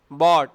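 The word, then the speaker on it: bought: बाय, बॉट। बाउट नहीं है ये, बहुत सारे तलबा दे मिस प्रोनाउंस, बाउट कहते हैं, बाउट नहीं है। बाय, बॉट, बॉट, इसमें जी साइलेंट है।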